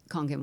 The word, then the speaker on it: Kangen: Let's talk about pronounce it Kangen water. It's Konkin Water.